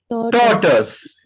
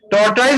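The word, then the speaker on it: tortoise: टॉर्टस। टॉर्टाइज नहीं बोलिएगा, टॉर्टस बोलिएगा।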